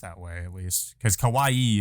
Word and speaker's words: kawaii: way at least because Kawaii is cute Kawai is scary Kawai she's just saying